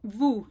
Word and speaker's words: vous: It's a much rounder oo sound. Think of it as the O U sound being round. That's the best way to remember. Vous, in other words, does not rhyme with tu, the two words for you.